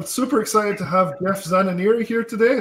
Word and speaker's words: Zananiri: I am super excited to have Jeff Zananiri here today. I hope I said your last name correctly there. Excellent pronunciation. Is that right? Or how would you say it? Zananiri? Exactly. Zananiri. Zananiri, yeah. Okay, cool.